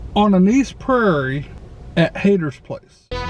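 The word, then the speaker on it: Hayter: i say mr hater it's not mr hater like he hates somebody or something his name is spelled h-a-y-t-e-r reverend mr hader he suggested that the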